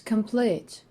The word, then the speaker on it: complete: on the last syllable such as complete this word consists of two syllables but this stress falls on the last one that's why we actually